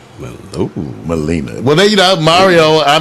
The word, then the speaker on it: Maleena: 2 E's. Long E. Ooh, Maleena.